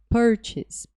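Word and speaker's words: purchase: palavra partes Artes e essa palavra normalmente o pessoal fala porque isso mas é partes partes a a sílaba tônica é por partes e o significado é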